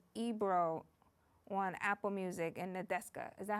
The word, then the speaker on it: Nadeska: But Kendrick said in his interview with Ebro on Apple Music and Nadeska, is that how you pronounce her name?